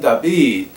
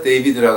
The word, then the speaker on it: 다비드: 또 벤 다비드, 또 우리가 한국말로 번역한다면 다윗의 아들이요, 벤 다비드입니다. 이거 영어로 데이비드라고 하는데 그거는 정확한 발음이 아닌데 다비드, 벤 다비드 그러면 다윗의 아들이요, 즉 메시아를 칭하는 그 이름입니다.